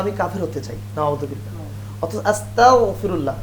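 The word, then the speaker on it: أستغفر الله: কাফের হতে চাই নাউজুবিল্লাহ আস্তাগফিরুল্লাহ গন দিয়ে উচ্চারণ করতে হবে তো আস্তাগফিরুল্লাহেফাল থেকে আসলে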